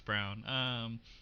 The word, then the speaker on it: Braun: I think it's Brown. But it could be, it's spelled like Braun, like Ryan Braun. I think they were pronouncing it as Brown.